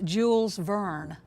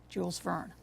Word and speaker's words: Jules Verne: worry about your pronunciation it is Jules Verne Jules fern American presidents the president